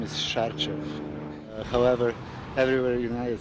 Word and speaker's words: Sarcev: They always ask me how you pronounce, your name. My first name is Milos and last name is Sarcev.